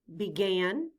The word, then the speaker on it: began: In began, the letter E stands for the short I sound, I, and the letter A stands for the short A sound, A.